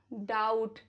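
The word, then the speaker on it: doubt: B silent रहता है after M, before T. For example, lamb, डम, थम, प्लमर, टूम्ब, वूम। चलो कुछ एग्जाम्पल बिफोर टी के देख लेते हैं। Subtle, that, डाउट।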